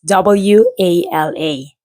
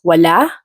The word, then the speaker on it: wala: So it's spelled as W-A-L-A. So it can be pronounced as wala, which means left, or wala, like a at the end, which means nothing.